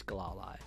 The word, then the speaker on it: Glalie: It's Glalie.